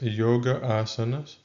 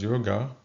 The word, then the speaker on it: yoga: For example, hundreds of millions of people practice yoga, mispronounced as yogaa across the world as well as pranayama.